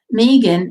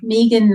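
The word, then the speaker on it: Megan: a friend who is ME GaN and is pronounced Meegan m ee ee n not m EG a n so Meegan not me okay Bizzy says she hates being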